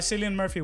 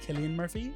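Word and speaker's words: Cillian: then finally we have for actor oh uh San Murphy won which fine I need I need a is it San or Killian um I thing I believe I believe that the the correct pronunciation is Killian Murphy mhm I I just think that when he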